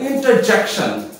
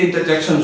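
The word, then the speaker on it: interjection: फिर होता है इंटरजेक्शन, हर्फ फिजाइया, इंटरजेक्शन, आर is silent, इंटरजेक्शन का मतलब होता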